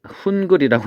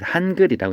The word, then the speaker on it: 한글: 그래서 우리 잘 아는 프로그램 중에 훈글이라고 읽는 사람이 많은데 한글이라고 읽는 거죠.